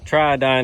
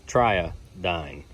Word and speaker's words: Triodine: So, the boat video where we took the Triodine out. Also, a few people in the comments kept spelling it with a Y. This one's spelled with a I. It's Triodine.